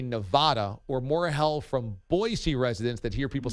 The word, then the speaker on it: Boise: Yeah, in Idaho they have T-shirts that say Boise, BOY-SEE.